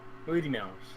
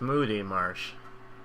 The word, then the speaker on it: Moody Marsh: Booty Marsh. No, it's Moody Marsh. I know I could rhyme with booty, but no.